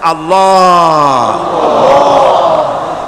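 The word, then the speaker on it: الله: পাকের নামের উচ্চারণ হচ্ছে আল্লাহ মুখটা একটু গোল হয়ে যাবে বলেন আল্লাহ আল্লাহ পৃথিবীতে বিভিন্ন জাতি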